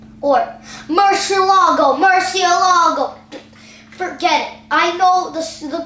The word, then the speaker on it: Murciélago: Next up, in about 2005, they created the Lamborghini Murcielago. Or Murcielago. Forget it. I know the correct pronunciation. It's Murcielago.